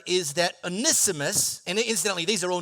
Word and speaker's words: Onesimus: I'm telling you, you pronounce his name Onesimus.